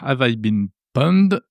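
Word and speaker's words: Have I Been Pwned: Bien, vous pouvez vous rendre sur le site Avaibin Pond, ça s'écrit PWND, je vous mets l'adresse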